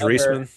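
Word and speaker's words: Reisman: Yeah, Reeseman. Is that what is how you say it? I don't know if you Yeah. George Reeseman.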